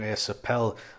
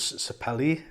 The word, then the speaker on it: sapele: you pronounce um and i'm still going to pronounce it wrong asapel i think it was the uh how you pronounce it correctly as sapele something like that yeah i thought it